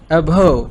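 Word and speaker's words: abhor: कहा करें, घिन, अभो, इसकी प्रोनाउंसिएशन सुन लीजिए, अभव, क्योंकि आर जो है वो श्वास साउंड में है लास्ट पे।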